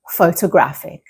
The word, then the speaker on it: photographic: Did you hear that the stress is in different parts of the word? Photograph, the stress is on the first part. Photography, the stress moves to the second part of the word, like photographer. And photographic, instead, is right at the end.